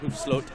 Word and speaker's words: Hoefsloot: We have finally got to the bottom of the pronunciation of Gus's surname after a couple of false starts. Sydney FC very kindly supplying us with the man himself saying his name in an audio message, so while I may not have quite the Dutch accent of Gus's heritage, Hoefsloot will have to do.